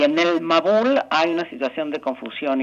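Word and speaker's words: מבול: Eh, la palabra diluvio en hebreo se pronuncia mabul y si tomamos la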